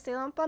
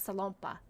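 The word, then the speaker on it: Salonpas: So you pronounce it as Ceylon-pa. My mom pronounces it as Salon-pa.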